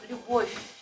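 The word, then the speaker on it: Любовь: So Lubosh. Well, to pronounce consonant, the final consonant, like what do you hear? Lubosh. Oh, sorry. But it's still soft, right? So Lubosh.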